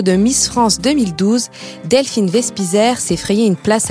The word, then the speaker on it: Wespiser: Donc, c'est un nom alsacien. Vous savez, je défends beaucoup ma région. Donc, Vespizer, ça se prononce comme ça.